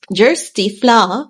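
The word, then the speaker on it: Kjersti Flaa: Amplified on August 10th this person's name is pronounced um JY fla a a Norwegian entertainment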